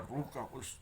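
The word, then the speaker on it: Ruach: the definition of the ruka The Holy spirit but the proper pronunciation is ruk because the The Holy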